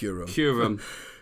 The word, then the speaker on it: Kyurem: Is it Kyurem, What? How do you say it? Kyurem. Rem or rum? Kyurem. Right. Kyurem.